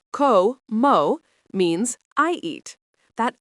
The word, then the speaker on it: como: Como pronounced com mo means I eat.